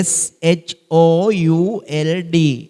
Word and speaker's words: should: මේකේ L අකුර silent letter එකක්. silent letter එකක් කියන්නේ ශබ්ද වෙන්නේ නැති නිශ්ශබ්දව තියෙන අකුරක්. should නෙවෙයි should.